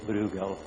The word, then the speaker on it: Brueghel: Bal well someone called bral someone called bual since we are in Spain here I will call him bugal right SP cuz I hear that that's his precise uh way of pronounce it here um so well we